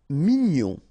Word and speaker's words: mignon: Mignon, okay, here in that case, G-N-O-N, gnon, mignon.